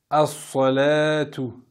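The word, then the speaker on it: الصلاة: Donc, pour vous aider, ça commence par alif lam. On ne va pas prononcer le lam ici. Donc, concentrez-vous bien sur la lettre qui va suivre après le lam. Pour ne pas vous tromper.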